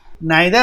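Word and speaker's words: neither: नाइदर आइदर बोलिए या नीदर ईदर बोलिए, दोनों सही है, दोनों तरह से प्रोनाउंसिएशन होता है।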